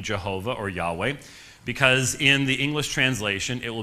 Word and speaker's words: Yahweh: Most scholars would say that the divine name was pronounced Yahweh.